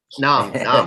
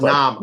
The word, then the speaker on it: Noam: That's right. Nam. It's pronounced Nam. I've been corrected.